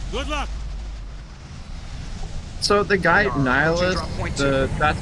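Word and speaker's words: Nihlus: Niilus like N I like like N like Bill Nye and then like N like like N like like a nihilist.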